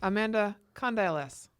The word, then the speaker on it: Condyles: Amanda Condyles. What? I always get it wrong, but that's how she's told me to pronounce it. It sounds like you're verbally hopping from one syllable to the next.